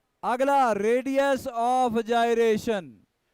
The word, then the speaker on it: gyration: जायरेशन, गायरेशन नहीं बोलते, गाय भैंस कोई नहीं है, जाई है।